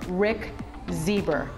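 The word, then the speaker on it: Rick Zbur: history of advocacy for lgbtq civil rights welcome rick zeber and and rick i have to ask you am i pronouncing that correctly because it's been driving me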